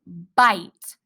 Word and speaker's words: bite: go that's the word bite this super silent e helps this vowel say it's a long vowel sound its name ba i bite can you look for